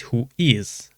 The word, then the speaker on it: WHOIS: Although written in uppercase who is is not an acronym, it is pronounced who is.